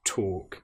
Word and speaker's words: talk: Now you'll notice that in both of these words, walking and talking, we have the L, which isn't produced. It's not, we don't hear the L woke. It's walk and talk.